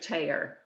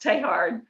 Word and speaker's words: Teilhard: about tonight and she knew him only as mr tayer which i know is terrible french probably olivia but but he he pronounced taehard in the french to her and she